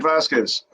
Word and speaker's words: Vazquez: And is it Vazquez? Is that how you say it? I don't want to butcher it. That's right. Yeah, Vazquez.